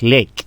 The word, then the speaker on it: lake: Donc, lake, nous sommes en présence de la règle du WV, donc les E. Donc, les E ne se prononcent pas d'abord, les E à la fin de chaque mot.